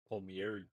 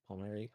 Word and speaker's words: Palmieri: Palmieri. Palmieri. What do I say? Palmary.